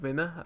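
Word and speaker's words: Wimmer: of squad players Kevin winner believe it so you say his name I believe that w's actually said like a bee and Josh ball I'm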